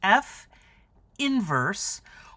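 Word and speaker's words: f⁻¹: It's pronounced f inverse, or the inverse of f, is a function which swaps the original function's domain and range.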